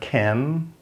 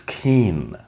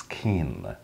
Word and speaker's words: keen: noun is keenness so the pronunciation is easy it's not Kim it's long it's keen okay it's keen let's start with the